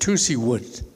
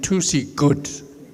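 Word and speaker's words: Tuzigoot: see wood and deserve that whoa sound they interpreted as a hard G and so today people go around saying to see good okay to see good is not the proper name because what you are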